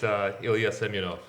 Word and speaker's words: Ilja Semjonovs: We take a shot at his last name, Ilja Semjonovs. How do you say it? I like that better, but it's Ilja Semjonovs. Say that one more time. Ilja Semjonovs. Tell us how you spell that.